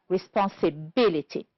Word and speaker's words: responsibility: The first one, first syllable, practical, honest, and product. On the second syllable, we have the word conclusion, direct, unethical, produce. The words that are stressed on the third syllable are imitation, economical. And the word, we have only one, which is stressed on the fourth syllable, is responsibility. Good.